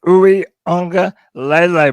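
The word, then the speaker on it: Uiagalelei: see us use DJ Uungalele correctly. Man, you gotta say that name right, bro. That's gonna be I your said it right. quarterback. I said it right. Uwe, Uungalele. it's Uwe Unga Lele, bro.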